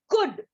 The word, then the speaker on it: could: It is commonly used in many words, but it is difficult to pronounce. Okay, so we'll see. Could, COULD.